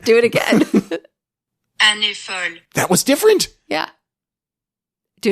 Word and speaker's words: Années folles: Let's see if it will pronounce. Oh, did you mean? Yes. Okay. Années folles. Années folles.